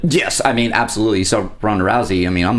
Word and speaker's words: Ronda Rousey: I think you're referencing The Roadhouse remake with rondarousey yeah is that how you pronounce her name yeah I feel so out